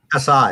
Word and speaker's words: Asai: Asai, there you go.